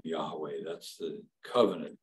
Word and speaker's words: Yahweh: h w h and so people sort of made a guess as to how to pronounce it and the best guess that Scholars have come up with that obtains today is Yahweh used to be Jehovah uh now it's Yahweh but in any case